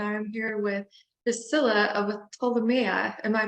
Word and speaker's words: Ptolemea: Damnation Vault and I'm here with Priscilla of told Maya am I pronouncing your name right the artists from all